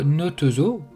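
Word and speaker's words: Nahtazu: Notazo. Prononcé comme Notezo, ou pas un zoo en français, est une expression utilisée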